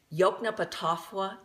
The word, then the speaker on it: Yoknapatawpha: He started his own town called, you'll see it in print, it's pronounced Yoknapatawpha County.